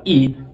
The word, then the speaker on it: y: Dito naman kapag gumamit tayo ng letter Y na Espanyol na binibigkas nga po bilang E, ay inuuna naman natin yung apelido ng tatay.